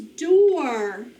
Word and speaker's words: door: All right, it's a funny word because O-O followed by R normally does not make the or sound, right?